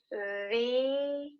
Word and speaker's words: the: The, but instead, the vowel afterwards is not the. Instead, you're making a long E sound. The ingredients. The ocean is in trouble. Okay, so you're gonna pronounce T-H-E, right, as the, when the next word starts with a vowel, like for example, the opposite.